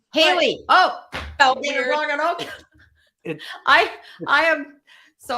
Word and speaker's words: Hallie: I'm not I think I've been pronouncing your name wrong because I've been saying but it's actually is it Halle it's Haley Haley oh I I am